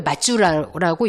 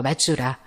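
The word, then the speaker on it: 松浦: 근데이 송포시를 일본 말로 송포를 맞주라라고 읽어요. 맞주라. 맞주라.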